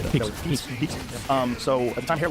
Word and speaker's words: Pepys: Capais? How would you say that? Pepys.